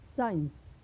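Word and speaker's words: science: चलिए अब नेक्स्ट देखते हैं कि जब भी सी, यानी जो सी है वह यस के बाद आए और आई, ई या वाई सी के बाद आए, तो वहाँ पर हम सी का उच्चारण नहीं करते हैं। जैसे साइंस, सीन, सेंस।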